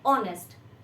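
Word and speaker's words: honest: कुछ और एग्जांपल्स हैं जैसे की ऑनेस्ट हम इसको ऑनेस्ट नहीं पढ़ने हैं फॉर्म में हम इसको हा के साथ लिखने हैं बट ये प्रोनाउंस होता है ऑनेस्ट ऑनर माननीय इस तरह से हम इनको हा को साइलेंट रख के प्रोनाउंस करते हैं तो जब भी इनके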